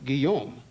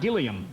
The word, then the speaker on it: Guillaume: And I said, well, okay, I'll change it to the Frenchification of Williams, which is Guillaume. Oh, that's pretty good. Because I figured everybody could pronounce it, Little did I know that no one could pronounce it.